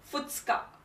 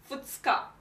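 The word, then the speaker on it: 二日: the kanji for day this word has an irregular reading again it's read as futska futska it means second day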